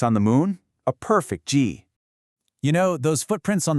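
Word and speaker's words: 迹: And that brings us to the character jì, pronounced jì. Another fourth tone.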